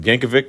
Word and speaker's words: Yankovic: they have weirdo Yankovic I think I said Yankovic Yankovich I'm not sure I think Yankovich is the correct way to pronounce it I saw the